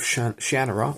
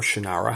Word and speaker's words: Shannara: Now, I just recently talked to you about Wishsong of Shannara, or Shannara, however you want to pronounce it.